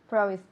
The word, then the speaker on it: promise: Promised. Again. Promised. Okay, en infinitivo, promise. Promised. No, al final, no hay nada al final. Promised. Promise. Promise. Yes. El último sonido es una S.